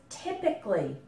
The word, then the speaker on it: typical: here is pronounced it just like the I in hit and tip like English tips okay but when we